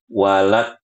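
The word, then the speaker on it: وَلَا الضَّالِّينَ: Nah, dengarkan dari awal suaranya ibu-ibu. Walad, walad. Suaranya seperti itu. Bukan suaranya seperti ini. Walad, walad, walad, walad. Bukan. Kenapa? Karena dari awal suara kita sudah tahu makhraj yang akan kita baca. Kalau kita baca walad, nah ini benar makhrajnya, yaitu kita menggunakan sisi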